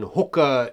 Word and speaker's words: Hoka: clear on the pronunciation hookah is the correct pronunciation because it's actually a mai words even though it wasn't founded by Mai people the word is Hoka onon which means to fly right so the big